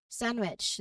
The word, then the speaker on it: sandwich: This is a word we use all the time, and again, the D is frequently silent. It's commonly pronounced as sandwich. So you'll hear the N flow directly into the W sound.